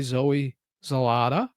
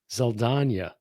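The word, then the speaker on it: Zoe Saldaña: she was replaced by Zoe Zalata.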